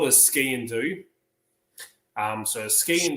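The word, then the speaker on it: sgian-dubh: sparing don't want to this is called a ski and do um so ski and Ski and do so put your skis on and do what no it's pronounced ski and do it's actually not pronoun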